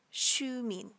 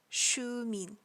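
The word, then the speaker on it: Xiumin: mean Shu mean now you may notice there's three characters but it only sounds like I'm pronouncing two individually they are SI u mean but it's pronounced altogether as Shu mean shoe mean and his real name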